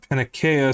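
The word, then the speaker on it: Panakeia: Her Greek name is Panakea, so the C should be technically pronounced as a K, not a S.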